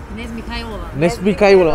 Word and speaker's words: Knez Mihailova: Knez Mihailova. So, I'm not pronouncing it. Can you be a little louder? Nesmikhaiola.